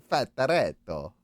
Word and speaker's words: Fattoretto: You got to say it like Fattoretto.